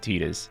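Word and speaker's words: Tidus: This is another Tetus situation. Everyone gets mad when I say Tetas, even though that's correct.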